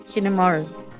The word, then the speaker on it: Hinamaru: Am I saying that right? Hinamaru. Give me two seconds. I just got to fact check. Got to fact check that I'm saying this right. Hinamaru. Okay. So, I was saying it right.